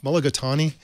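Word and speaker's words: mulligatawny: out a single meal uh this is um mulligatani how do you say that katie mologatani you got it yeah okay chicken mulagatani su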